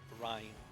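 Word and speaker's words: Ryne: Oh yeah, and the character me and the Spectre was referencing, the name is pronounced Ryan. Or like Ryan.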